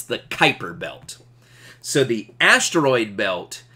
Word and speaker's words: Kuiper: is actually called the Kuiper belt Kuiper belt a zoom in on that real quick there we go it kind of looks like qui per belt but the U is silent it's the Kuiper belt so the asteroid